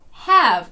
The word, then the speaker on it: have: Have a nice day have читається проти правил хоча Здавалося б відкритий склад ми маємо широке е Have a nice day